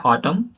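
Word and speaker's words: autumn: Apple के थ देखेंगे किसी शब्द में एम और एन दोनों साथ में आए तो एम और एन में एन साइलेंट हो जाता है एन साइलेंट हो जाता है चलिए एपल देखेंगे यहां पर हो जाता है ऑटम है ना ए एन साइलेंट हो गया य पर ओके ऑटम ऑटम नहीं पढ़ेंगे ऑटम पढ़ेंगे ओके नेक्स्ट वन है आपका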